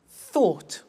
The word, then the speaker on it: thought: Think, thought. Watch that again. O-U-G-H-T, ought.